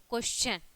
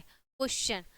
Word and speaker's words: question: जैसे आपका हो गया क्वेश्चन ठीक है यहां पे टी आई ओ एन आया है ठीक है क्वेश्चन यहां पे हो गया आपका च ठीक है तो क्वेश्चन